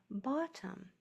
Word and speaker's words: bottom: That's why O has two T's after it, so it can say ah, and then this O is spelled, it spells the schwa sound, bottom.